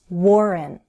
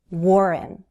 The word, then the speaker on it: Warren: Warren. Take the time to fully form that W, Warren. Warren.